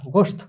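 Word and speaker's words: گوشت: তো সেটার উচ্চারণটা কিরকম হবে, গাফ ওয়াও পেশ গো শিন তা গোশত।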